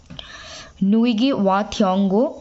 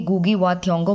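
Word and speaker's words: Ngũgĩ wa Thiong'o: नुइगी वा थियोंगो বা অনেকে गुगी वा थियोंगो बोले থাকে, बहुत सारे लोग गुगी वा थियोंगो वही बोलते हैं और नुइगी वा थियोंगो भी बोलते हैं, क्योंकि ये प्रोनाउंसिएशन थोड़ी डिफिकल्ट है, बट इट्स ओके।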